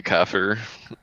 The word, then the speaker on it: kafir: The actual like Arabic pronunciation is closer to kafir, but like that it's